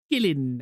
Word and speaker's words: kiln: When I was in ceramics class, I had a Irish teacher, and she used to pronounce kiln as gillin.